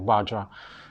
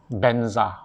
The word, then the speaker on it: vajra: sanctuary words properly like vajra so they they they pronounce it in an approximation of the sound benza braja badra menza i don't